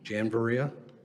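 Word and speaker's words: Janviriya: Janereia. Oh, spell it again.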